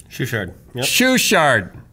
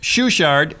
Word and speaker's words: Schuchardt: Schuchardt. Spell it.